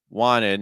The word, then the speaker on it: wanted: to get Florence wanted no stop wanted the T disappears because after the end and then we get